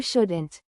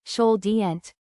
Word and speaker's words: shouldn't: Or, no, you shouldn't. A quick pronunciation tip. In should and shouldn't, the letter L is silent. Listen carefully. Should. Shouldn't. Not should-y, just should. And shouldn't, not should-y-ent.